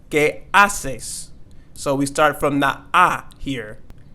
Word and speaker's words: haces: you doing queases and don't forget here that H is silent so we're not going to say que haces but we're going to say que asses so we start from